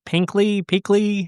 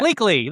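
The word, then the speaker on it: Pleakley: So I have to say my favorite characters, if I'm saying his name right, Pinkley, however you say his name. Yeah. Bleakley, that's what it is.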